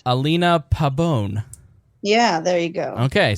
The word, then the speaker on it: Pabon: say your last name I feel like I say it too white yeah probably pretend there's an e at the end Alina Pabon yeah there you go